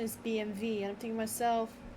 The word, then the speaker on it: BMW: Yeah, so the Germans pronounce their W's with a V.